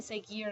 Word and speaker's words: seguir: match these guys because the U in seguir is silent, so it doesn't have a sound, so that's why I wouldn't fall in this group.